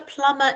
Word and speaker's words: plumber: the correct spelling and the correct spelling is actually with a silent b so the way vincent has written it is exactly how it sounds however as quinn has written it is how it is spelt does anybody know what